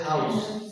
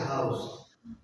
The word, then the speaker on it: house: You see, in the first instance, we have noun which is pronounced as house with the sa at the end.